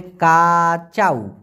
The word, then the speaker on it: kacau: তবে উসিক, গাঙ্গু আর একটা আছে হচ্ছে কাচাউ, KACAU, উচ্চারণটা হবে কাচাউ।